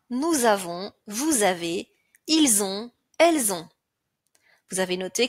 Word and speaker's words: ils ont: Attention à bien prononcer ils ont, elles ont, auxiliaire avoir, liaison z, à ne pas confondre avec ils sont, elles sont, où on entend le son s.